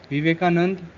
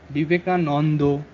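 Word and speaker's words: বিবেকানন্দ: So Bhishma Bhisho, Lakshmi Lokhi, Akshay Akshay, Vasant Boshanto, Vivekanand Vivekanando. And also the main thing is that we don't use retroflex in our conversation.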